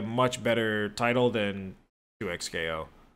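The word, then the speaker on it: 2XKO: it 2K 2 2x 2x KO 2x KO 2 times KO that is no it's actually pronounced 2x KO not like two yeah yeah I yeah I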